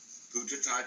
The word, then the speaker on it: Buddhadasa: And it would be even more credit to your point if you use the Thai pronunciation of his name, Puttatat Bhikkhu.